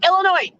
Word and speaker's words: Illinois: still owls in it there's still s in missouri no illinois stop it it's illinois period is there an s